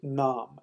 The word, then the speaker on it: naam: the second word is nom and a.m. and it means name it's the same language we pronounce it name in modern English but it's pronounced nom so soft nom means